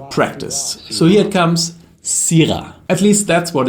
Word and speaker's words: Syrah: You have criticized my way of pronouncing Syrah in the past, and I've practiced. So here it comes, Syrah.